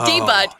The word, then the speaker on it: debut: for the first time debut is a weird word guys because it's French I was recording something for a client uh long ago and they said oh no you said it wrong it's debut or debut and I went no actually it's not yeah it's debut because it's French so we use it for